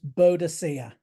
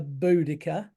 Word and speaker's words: Boudica: Well, when I was at primary school, she was pronounced Boadicea. Now Boadicea. they seem that they want to pronounce her Boudica.